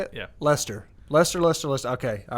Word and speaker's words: Leicester: back so uh so if they finish like Lester that's how you say it yeah Lester Lester Leicester list okay all right I'm gonna